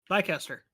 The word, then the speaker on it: Leicester: Leica or Cester? No, Leicester. Yeah.